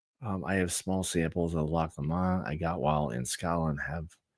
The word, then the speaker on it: Loch Lomond: Am I going with the, as Paul wanted me to say before, it's pronounced Loch Lomond. Loch Lomond. Okay, not Loch Lomond. Okay, Loch Lomond. Not like Greg LeMond.